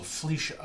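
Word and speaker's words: Fleesha: Oh, so Felicia. Okay. Yeah, F-L-E-E-S-H-A. So make sure I was pronouncing it right.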